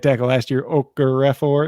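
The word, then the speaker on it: Okorafor: right tackle last year okra refer it looks like okafor but there's a couple extra letters in there he's going to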